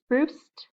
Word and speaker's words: spruced: So we're going to make it sound like a T when we add the ed. What's the word? Spruced.